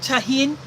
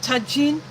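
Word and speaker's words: Tajín: You get mixed fruit and you put there's a spice mix which is called I pronounce it tahin. Some may pronounce it tajin.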